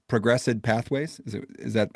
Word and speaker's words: ProgressEd: that obviously with am I going to say ProgressEd pathways? Is that how do you pronounce ProgressEd?